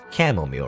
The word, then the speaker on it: chamomile: benefits of the uh camel meal is how you say chamomile i want to say cham like shamo mile that's i i think i said that before like a different game shaman mile no it's camomile right chamomile chamomile and